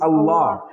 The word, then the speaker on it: Allah: Real pronunciation of Allah is Allah. That is the case that you use, when you pronounce Allah, you touch your teeth with the your tongue with the teeth, with the uppercase teeth.